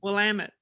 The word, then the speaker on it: Willamette: valley the willamette valley the willamette valley yeah willamette see i got corrected yeah yeah i said it wrong but that is